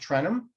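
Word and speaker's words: Tarentum: west trenham on that that's that's pronounced trenham by the locals then there's butler cars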